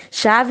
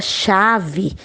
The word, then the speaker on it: chave: Porque no momento que eu vou pronunciar a palavra chave, é como se tivesse o X, o A, né? E o V e o E.